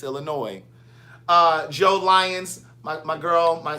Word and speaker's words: Illinois: It's Illinois, niece, not Illinois. It's Illinois. The S is silent. It's Illinois.